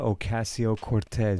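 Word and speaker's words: Ocasio-Cortez: bit about AOC alandria Ocasio Cortez oh Cortez de beautiful how it rolls off the tongue oh the double you got to roll your R got to roll your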